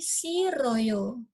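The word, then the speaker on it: 싫어요: dia itu tidak terbaca terus silheo Joe dibaca menjadi siroyo Kenapa kok ini bukan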